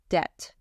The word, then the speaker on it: debt: CH is K and the B is silent debt technical debt refers to the additional